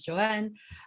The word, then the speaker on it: Joan: So my name is Joanne. It's spelled Joan, but pronounced Joanne.